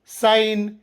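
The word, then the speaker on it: sign: ನಿಯಮ ಪದದ ಆರಂಭದಲ್ಲಿ ಅಥವಾ ಕೊನೆಯಲ್ಲಿ ಎನ್ ಅಕ್ಷರದ ಮುಂಚೆ ಜಿ ಬಂದರೆ ಜಿ ಸೈಲೆಂಟ್ ಆಗಿರುತ್ತದೆ ಸೈನ್ ಡಿಸೈನ್ ಫಾರಿನ್ ಗೊತ್ತಾಯ್ತಾ ಸೈಲೆಂಟ್ ಎಚ್ ನಿಯಮ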